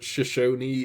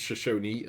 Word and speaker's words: Shashi: last episode was that Shashi is pronounced shash and not shash um although if you just read it it sounds like it looks like it should be shash but that's just I think